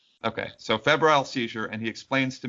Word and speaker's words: febrile: seizure Johnny is that the right way to pronounce it Fe Feb yeah that's right okay so febal seizure and he explains to me what that